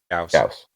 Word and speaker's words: Gauss: I said that I know it's supposed to be called Gauss, but I want to call it Gorse, because Gorse sounds cooler. It does not. It does. Gauss just sounds like you sneezed. The game pronounces it Gauss.